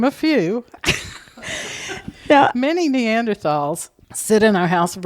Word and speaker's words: Neanderthal: pronunciation of the word I grew up saying Neanderthal but now all the people that talk about this stuff are calling them neander talls and I don't know